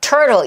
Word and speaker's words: turtle: 이때 트 사운드의 원리의 적용은 뭐냐면 turtle 이 단어의 발음 기호를 한번 볼게요. 이거 제가 진짜 많이 말한 이론이에요. 이게 여러분이 철자를 보면은 이걸 어떻게 소리 내지 이럴 텐데 발음 기호 보면 딱 알아요. 항상 소리는 발음 기호 기준이에요. 철자 아니에요. 자, 트를 기준으로 뭐가 있어요? 모음이 있는 거 보이세요? 트를 기준으로. 그쵸? 이때 트 모가는 리을 사운드 가능해요. 그래서 틀 해도 맞아요.